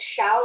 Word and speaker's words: Shao: It's Shao like shower and then you.